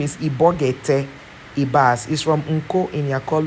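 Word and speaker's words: Ibok-Ete Ibas: Yes, his name is Ibogete Ibas.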